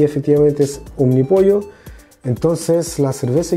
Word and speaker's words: Omnipollo: se llama omni pollo hay varias personas que lo pronuncian como omni polo pero yo hice la investigación correspondiente y de hecho por eso también yo personalmente sigo fanático de la muerte sería desde hace muchos años y por fin lo puedo probar justamente por el nombre porque me parece muy curioso el nombre y efectivamente se pronuncia como un mi pollo vamos a limpiar aquí